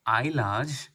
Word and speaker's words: Islay: बाय द सी ऑफ आईलाज pronounced आई ला अच्छा वो pronunciation अच्छे